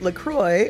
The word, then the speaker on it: LaCroix: how to pronounce it lacroix rhymes with enjoy and vanilla coke